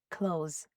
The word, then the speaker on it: clothes: You don't have to say the th sound here. Close.